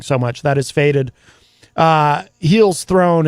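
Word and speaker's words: Hel's Throne: Heels Throne. It's HEL''S and then Throne. So it's like Hell's Throne, but with only one E.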